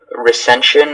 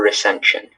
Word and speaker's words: recension: This is just recension or recension.